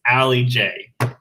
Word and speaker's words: Allie J: see l okay so i found out that al lj's name is not lj it's allie j i found this out